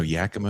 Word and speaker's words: Yakima: No, Yakima is actually spelled phonetically. Y-A-K.